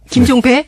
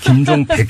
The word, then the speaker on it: 김종백: 자, 이 김종백 씨, 우리 지금부터 발음 조심합시다. 김종배? 네, 김종백 씨.